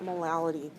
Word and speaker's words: molality: the exam five uh some students see the word mity on the test and think it's a typo and that I meant marity no the L was there intentionally it's molality so you're warned molality